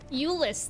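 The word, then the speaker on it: Jullus: Eulis, though. We will remember that his name is pronounced with the J as a Y instead of a J.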